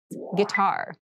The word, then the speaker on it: guitar: casual clothing casual clothing guitar this word has kind of an interesting spelling it starts with GUI but we pronounce this as git so a guitar is a musical instrument